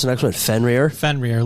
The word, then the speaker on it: Fenrir: So then you have how do you pronounce the next one? Fenrir? Fenrir.